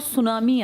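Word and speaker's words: tsunami: इसके आसपास बहुत ज़्यादा ज्वालामुखी विस्फोट और सुनामी आते हैं। सुनामी किस भाषा का शब्द है? हाँ, इसमें टी साइलेंट है, सुनामी लिखते हैं, ये पूछ लेते हैं बहुत बार।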